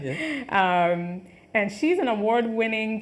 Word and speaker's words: Haiti: She's representing Haiti or Haiti, right, is the correct pronunciation. Haiti, yeah.